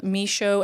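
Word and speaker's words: Michoud: the plants is now NASA misho assembly facility I'm hope I pronounced that right m i c h o u d two the lake pineer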